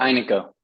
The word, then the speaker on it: Aineko: application with I um hey how do you pronounce the name of this uh service we we call it Ino Ino great yeah um Ino is an open